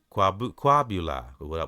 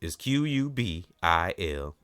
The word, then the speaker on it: Qubilah: Quabula, which I read in that summary just a few minutes ago. Quabula. Please forgive me if I'm not pronouncing that right. It's Qubilah. I just wanted to spell it again.